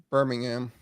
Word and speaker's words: Birmingham: then uh and bringing Birmingham um there's still 61 the H is silent there in England on this city but anyway uh non-fsa